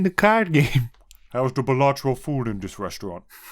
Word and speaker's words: Balatro: It rhymes with Spalatro. What? Balatro.